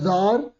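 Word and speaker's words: tsar: और sensing trouble the जार, अरे ये देखो ये जार लिखा है, राजा था ये, इस पर टी साइलेंट होता है।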